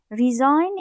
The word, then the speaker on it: resign: here in the meaning the early election step resign is a verb digi is silent of course resign is a verb and